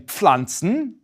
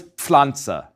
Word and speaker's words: Pflanze: Likewise, the PF in Pflanzen is pronounced just as it's spelled. A P, P, combined with a F, Pf. So it's Pflanze, Pflanze. In fact, my last name starts with this sound.